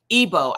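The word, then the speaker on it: Igbo: Ebo, I'm sorry, the tribe is pronounced Ebo.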